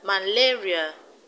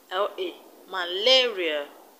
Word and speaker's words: malaria: level from the end malaria the stress is only malaria schizophrenia the stress is